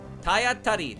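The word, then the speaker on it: たいあたり: Tayatari. Oh, that's how you pronounce it.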